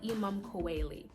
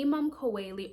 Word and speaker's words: Imum Coeli: ic so this is the imam kuwaili the imam kaweli or imam chelli depending on you know who you're talking to it's pronounced differently but this is the